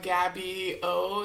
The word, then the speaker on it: GABBYOO: It's Gabby O is the way I like to pronounce it, but it's spelled GABBYOO.